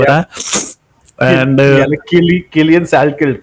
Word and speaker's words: Salkilld: coming to Anshul Jubli, Kulian Skilkid, if I'm pronouncing his name right, उसका नाम बड़ा tongue twister वाला है, मुझे तो याद ही नहीं हो रहा. And Killian Salkeld, correct.